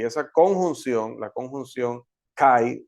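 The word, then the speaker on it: καί: por una conjunción Y esa conjunción la conjunción Kai o c como pronuncian algunos Pues nos ayuda a ver que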